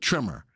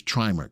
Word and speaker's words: trimer: one hiv trimer listen if it was two m's i would call it trimmer tell me if you agree with the the right side of the right pronunciation you know that word is trimer type of one if you believe that that's the right pronunciation trimer not trimmer all right interesting how